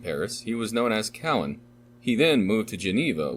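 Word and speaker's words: Cauvin: he was known as cowan he then moved to geneva where he formulated the philosophy now known as calvinism at first known in geneva as cohen the usual pronunciation of cowan he anglicized his name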